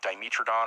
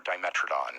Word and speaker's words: Dimetrodon: But it's spelled the same, but it's like Dimetrodon or Dimetrodon.